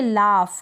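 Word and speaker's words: laugh: जी एच है और उसको हम प्रोनाउंस कर रहे हैं फ क्या कर रहे हैं फ और उससे पहले यू है क्या है यू है यानी कि स्वर है यानी कि वर्बल लेटर है तो इसको हम पढ़ेंगे लाफ क्या पढ़ेंगे लाफ तो इन स्पेलिंग्स की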